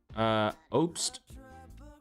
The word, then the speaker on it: Obst: We're going to take the under assists at 1.5 for Andreas Obst. I'm going to say you pronounce it OBST.